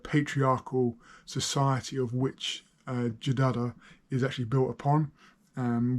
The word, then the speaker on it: Jidada: hear the country name it is said as this is jidada with a DA and another da and that gives you